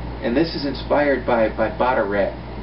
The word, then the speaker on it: Bataireacht: And this is inspired by Bataireacht. It's spelled B-A-T-A-I-R-E-A-C-H-T.